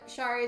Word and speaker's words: Shari: Also, Musical Sleeping Cat, you said Shari is pronounced like Sherry, and then Hank said I usually go Shari just so I can say Sherry on.